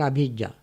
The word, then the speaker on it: abhijjā: It's called abhijjā. It's not the same as avijjā. Avijjā is spelled as A-V-I-J-J-A, V. Abhijja is spelled A-B-H-I-J-J-A, Abhijja.